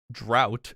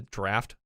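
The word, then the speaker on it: draught: probably a drought stout a draft how does that how is how does that spell pronounce draft i get the t at the end but where does gh turn into a f i i don't know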